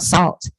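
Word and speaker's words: Sault: the UK it's a group called salt it's spelled s-a-u-l-t you know they just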